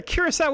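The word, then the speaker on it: Curaçao: The Sadia is pronounced as an S.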